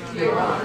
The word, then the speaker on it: Iran: Iran is a fantastic song by a group called the Flock of Seagulls of the 1980s. Iran so far away. But we don't, it's actually, the correct pronunciation should be Iran.